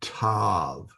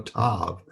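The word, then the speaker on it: ת: This is the part of a tape that distinguishes it, or it's part of a tav that distinguishes it from a HETH. It is pronounced T as in toy.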